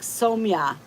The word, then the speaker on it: Somya: Take the U out and say it like Somya.